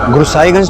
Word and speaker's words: गुरसाईगंज: गुरसाईगंज तुम्हारा गांव है, वही तुम्हारा घर है? गुरसाईगंज। सर, गुरुसाईगंज को वहां के लोकल लोग गुरुसाईगंज प्रोनाउंस करते हैं।